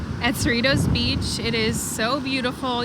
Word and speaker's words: Cerritos: these things we've heard it's Cerritos not churritos there's no h so unless you're English